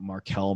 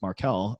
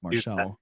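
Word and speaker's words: Marchal: and Michael and it's marel and people can't pronounce it most of the time because it looks like maral so sick it's such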